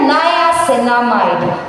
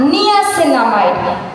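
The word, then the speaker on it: niacinamide: Second आता है नयासेनामाइड। पहली चीज प्रोनाउंसिएशन। इट्स नॉट नियासेनामाइड। प्रोनाउंस करते हैं नयासेनामाइड। मैक्सिमम लोग गलती करते हैं।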